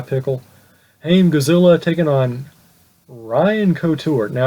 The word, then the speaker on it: Couture: Haim Godzilla taking on Ryan Couture. Now it's Ryan Couture, not Hein Couture.